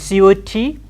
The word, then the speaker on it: cot: And C-O-T, cot. Cot. K we aspirate, but we don't show it here. Cot. Short O again.